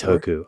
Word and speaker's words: Intoku: How do you spell it? Or what's Intoku.